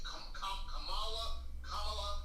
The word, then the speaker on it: Kamala: Spend time talking about how we should pronounce her name, Kamala, because you talk about a black job. It's Kamala.